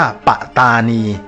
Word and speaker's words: ปัตตานี: จาก คำ ว่า ประธานณี ต้อง อ่าน ออก เสียง ว่า ปะตานี แล้ว ถ้า ย้อน กลับ